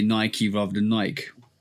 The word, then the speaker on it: Nike: Like there's a bunch of Ike words in the English language and they're all pronounced Ike. like Mike Tikeke. You know what I'm saying? But Nike is the one difference that I've always known.